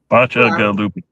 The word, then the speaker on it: Bacigaluppi: No, Bacigaluppi. Try like BOTCH, botch, UH, GUH, and then loopy. Bacigaluppi.